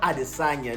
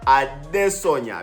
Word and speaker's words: Adesanya: You have to say his name right because it's not Adesanya. No, the man is from Nigeria. So you have to say his name right. Israel Adesanya.